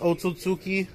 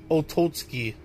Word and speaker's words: Otsutsuki: know how he pronounced otsutsuki he pronounces it otozki ototsuki like he calls it otozki it's because he's never